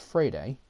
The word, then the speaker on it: Freire: He was a first baseman, but even though it's spelled like Freire or whatever, but it's pronounced Frade.